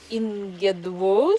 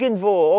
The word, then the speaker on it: Irgendwo: And if we look back at your early works like Ingedwu, sorry for my German, one of your earliest tracks is Ingedwu.